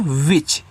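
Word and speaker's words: which: आगे डब्ल्यू एच आई सी एच। इसको पढ़ते हैं विच ऐसे डब्ल्यू के बाद तुरंत आपका एच दिया है तो आधा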